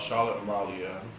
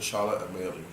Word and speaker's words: Charlotte Amalie: There's been great debate regarding the correct pronunciation for the name Charlotte Amalie. First, it was called Charlotte Amalia, but after researchers reported a mistake in the history, it was named to Charlotte Amalie.